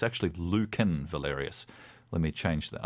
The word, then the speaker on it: Lucan: Luc is their ears or Lucan it's actually Lucan Valerius let me change the owner that's what